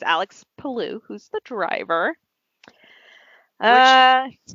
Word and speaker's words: Palou: Pronounce that name. Palou.